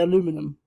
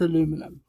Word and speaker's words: aluminum: I always wonder why the Americans say aluminum. And I just realised it's because it's actually spelled differently. I'm British, so it's aluminium. But for those of you who are confused by aluminium, it's aluminum.